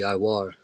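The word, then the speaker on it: עור: Khan Khan, it would be Iwar.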